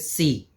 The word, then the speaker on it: sí: The next one is sí. Sí. Sí means yes. So you use it, you pronounce it as the C of English.